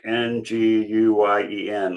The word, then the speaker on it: Nguyen: It's called the Splinter Collective, and Natalie Brewster Nguyen is the executive director, co-executive director, like Nguyen, like Vietnamese. Nguyen, I guess it's pronounced.